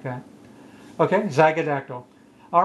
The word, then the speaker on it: zygodactyl: Z-Y-G-O-D-A-C-T-Y-L.